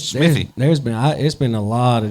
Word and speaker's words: Smithy: would say it, because it's Smith and then E, Y. You would think the Y is silent, so it's supposed to be E, Smithy. No, Smithy.